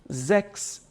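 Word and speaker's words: sechs: dizer faça tá faça zex então 6 em alemão a gente diz sexo tá e a gente pronuncia assim Seria algo do tipo faça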